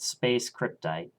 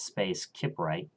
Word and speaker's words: Space Kiprite: It's not Space Cryptite. It's Space Kiprite. I know. For a long time, I thought it was pronounced Space Cryptite, but no, it's spelled Space Kiprite.